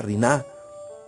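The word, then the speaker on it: רינה: Rina, pero como que lleva un poco más el acento en la A. Riná.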